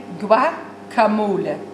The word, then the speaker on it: guacamole: Guacamole klinkt toch ook een beetje vies? Het moet gewoon zijn guacamole. Guacamole. Oké, als je er een paar achterover hebt geslagen, dan is tequila acceptabel.